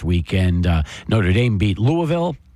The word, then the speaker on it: Louisville: uh Notre Dame beat Louisville it's not Louisville Louisville Louisville Louisville Louisville that's right yeah they'll they'll point it out that you're not saying it right if you were to